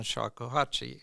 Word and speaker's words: shakuhachi: underrepresented instruments like the bass clarinet and the shakuhachi. Am I pronouncing that correctly?